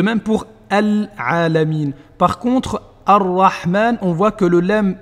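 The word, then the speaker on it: الرحمن: Et vous savez donc quand est-ce qu'on prononce le lam et que si on ne le prononce pas, on doit doubler la lettre qui le suit.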